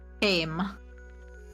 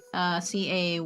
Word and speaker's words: Caym: The one with the wallet is Kame. Caym. Well, apparently that's how they pronounce the name.